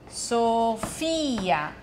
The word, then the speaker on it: Sofia: Mi chiamo Sofia. Sofia. Sofia. In italiano è... Sofia.